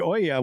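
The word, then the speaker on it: olla: Now, the Oya, which is, by the way, is spelled O-L-L-A, is a terracotta pot that's buried in the ground.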